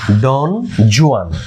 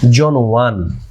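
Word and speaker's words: Don Juan: Lord বায়রনের বিখ্যাত এপিকের নাম হচ্ছে ডন জুয়ান, যদিও সঠিক উচ্চারণ হচ্ছে জন ওয়ান।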